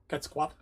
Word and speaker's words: Quetzalcoatl: Quetzalcoatl. Apparently the L is silent.